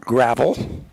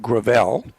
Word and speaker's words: Gravel: that my camping neighbor, Robert Gravel, that's the way he told me to pronounce it. I would have pronounced it Gravel, and Brute from Rio Vista, Texas.